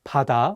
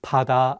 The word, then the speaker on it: 바다: The pronunciation of 비읍 in this word is different than the one in 가방. In this case, the 비읍 is pronounced more like 피읍. Try saying the words 가방 and 바다 out loud and see how you sound.